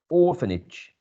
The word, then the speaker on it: orphanage: again here orphanage orphanage so the first syllable is the one stressed as you we can see here i still have good eyes so i can see that there's a primary stress in this first syllable orphanage and you have the same